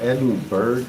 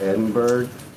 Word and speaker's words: Edinburg: I you we have Edinburg, Texas and I used to live there and and it's pronounced Edinburg. That's the proper way to say it in Texas. Edinburg. If you called it Edinburgh, they'd be like, "What?